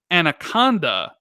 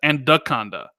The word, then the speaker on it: Anaconda: And I basically mispronounced Anaconda in the video a bunch of times and said Andaconda, right?